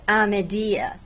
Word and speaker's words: Amediye: Kurdish it's aedi but in the local Kurdish pronunciation of the city itself it's amedia so in the city